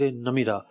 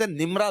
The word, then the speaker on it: نمیرہ: اچھا، اس کو لوگ مسجد نمرہ بھی کہتے ہیں، تو ایکچوئل لفظ نمیرہ ہے. میں بڑی جو نا کوشش کے ساتھ اس کا تلفظ دیکھ کر آیا تھا. 2-3 کتابیں میں نے نکالی اور جناب ان سے باقاعدہ تلفظ دیکھا، اعراب دیکھے. نمیرہ لفظ ہے، ایکچوئل نمیرہ ہے. نمیرہ ہے، میم کے نیچے زیر ہے.